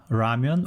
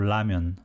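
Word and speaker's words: 라면: korea bread is bang bang ramen is either pronounced as ramyun or lamian that's because if a word begins with real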